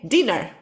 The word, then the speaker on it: dinner: diphthong diner biftong okay if we write two ends we say dinner okay so this is